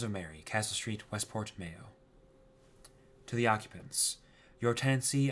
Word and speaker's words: Mayo: gway and below sgo the name is from the Irish May ma yell pronunciation Mayo much like the condiment croan is a mountain